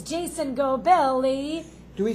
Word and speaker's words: Gobeli: new guest, it's Jason Gobeli. Do we say it right? Yeah, you said it right. It's almost like the chocolate. Wait. Oh, it's like Gobeli. Right there. Gobeli. Oh, Gobeli.